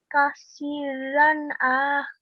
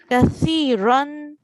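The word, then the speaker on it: كثيرا: Kasiran. No, we do not pronounce the alif. It just, we do not pronounce it because there's no stroke on top. Kathiran.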